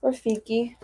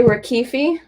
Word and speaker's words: Rafiki: And then this is my cousin Dane with Rafiki. You're saying that wrong. Dad likes to say Rakifi.